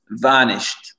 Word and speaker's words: vanished: Et ce mot-là, l'accent tonique, il est sur le VA et pas vanished ou shed. Sht. Vanished. Vanished. D'accord? Vanished. Le CH, il rentre dans le D. Il n'y a pas de ED ou ED.